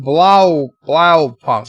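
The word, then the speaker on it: Blaupunkt: Rock Solid says it's pronounced Blau Punk.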